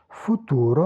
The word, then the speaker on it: futuro: future future le ou le deuxème porte l'accent en syllabe libre non entravé donc un logement vocalique long là le porte l'accent mais il est en position entraver donc pas d'allongement vocalique futuro pour futur ou à venir.